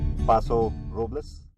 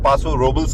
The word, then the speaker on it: Paso Robles: पासो रोबलेस is spelled एज PASO ROBLES, पर इसकी प्रोनाउंसिएशन इंग्लिश में पासो रोबल्स की तरह नहीं है क्योंकि ये स्पेनिश वर्ड है, तो इसकी करेक्ट प्रोनाउंसिएशन जो है वो है पासो रोबलेस।